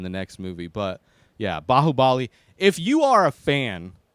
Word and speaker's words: Baahubali: i'm pronouncing that wrong i'm trying to sound like the way they say it in the movie bahubali bahubali kind of sound bahubili a great movie